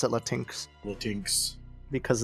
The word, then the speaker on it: Latinx: no it's definitely there's definitely supposed to be latinx but yeah yeah latinx but it's dumb so i pronounce it le tinx tinx because it's dumber that way um and